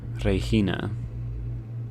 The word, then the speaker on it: Regina: Regina. Okay. Rhymes with vagina.